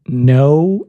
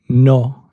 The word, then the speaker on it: no: in Spanish is to imagine there's an H after the letter O. So it goes from no in English to no in Spanish.